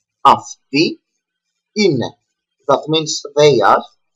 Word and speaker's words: αυτοί: Over here we see omicron and iota that I'm gonna teach after the verb είμαι, that is another combination that make together the pronunciation e. Αυτοί είναι, that means they are, but only for masculine people.